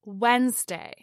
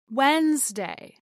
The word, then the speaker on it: Wednesday: And lastly, we have Wednesday, the third day of the work week, as Wednesday, not Wednesday.